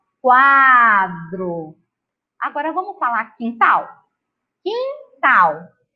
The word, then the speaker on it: quintal: Apareceu a letra U? Não. Então, nas sílabas que e na sílaba que, a gente não vai pronunciar a letrinha U, mas na hora de escrever, ela tem que estar ali.